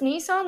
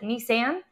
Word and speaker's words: Nissan: for Nissan there are also some weird he pronounces Nissan like three different ways in the movie he pronounced it yeah he pers in like one of the first ways he pronounces it he calls it Nissan and then and then and then he settles